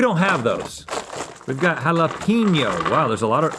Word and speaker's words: jalapeño: But let's see if these jalapeno M&Ms from 2019 are worthy of a comeback. Not jalapeno. You're saying it wrong. Jalapeno.